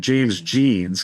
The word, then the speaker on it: Jeans: uh James John's and I've always pronounced it James Jeans because it's spelled like jeans, you know, G or J E A Ns.